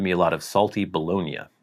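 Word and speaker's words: bologna: a lot of salty bolognia bolognia baloney I don't understand why Americans pronounce that that way baloney which was also pan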